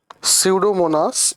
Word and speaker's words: pseudomonas: Look here P is silent pseudomonas bacteria. Sudomonus bacteria.